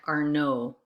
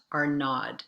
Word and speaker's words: Arnaud: We don't pronounce the D in our name, so it sounds like Arnaud, not Arnaud.